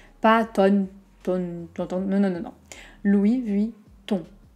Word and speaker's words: Louis Vuitton: plantant deux mots notamment louis vuitton on a une voyelle nasale donc je vous explique aux airs du nez tous vers l'avant la langue vers l'arrière donc le son se fait vers l'avant mais la langue est reculée louis vuitton ont donc